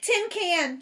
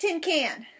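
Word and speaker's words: cinquain: Mae jumped right up Tim can she shouted it's pronounced Tim can she grand indle she grinned real delighted I know it's Tim can because you told me this morning remember I was the first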